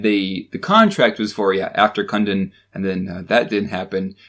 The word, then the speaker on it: Kundun: It's pronounced Kundun. Kundun.